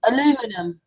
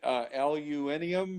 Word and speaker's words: aluminum: Aluminum. Well, okay, you got it. Some call it aluminium or something like that with their British accents.